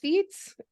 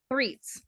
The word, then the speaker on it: Threets: honor to welcome Michael thets so how did I say your last name wrong uh Michael threatz threats I apologize Michael threats